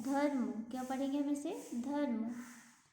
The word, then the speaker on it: धर्म: फिर है, अब इससे बने हुए शब्दों का हम उच्चारण करते हैं। जैसे हमने लिखा धो जो मो, धर्म, क्या पढ़ेंगे हम इसे, धर्म, है ना।